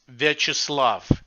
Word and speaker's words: Viacheslav: take a chance at so can you pronounce your name for us yes my real first name is virtuslav but when i moved to the us five